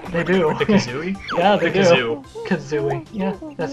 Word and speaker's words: Kazooie: the kazooie yeah they do the kazooie yeah kazooie yeah that's how you say it you're gonna